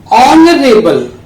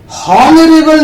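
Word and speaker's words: honourable: ऑनरेबल, हॉनरेबल नहीं है ये, ऑनरेबल मैन, इसमें भी एच साइलेंट है, इसके लिए हमने एन का यूज किया।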